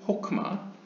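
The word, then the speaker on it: חכמה: 첫 번째는 호크마. 여기서 하크마라고 한 것은 이제 약간 동유럽식 히브리어 발음이고요. 호크마, 그 다음에 비나, 그 다음에 세 번째부터 8번째까지는 이 헤세드 게브라 티프렛 네자 호드 예소드.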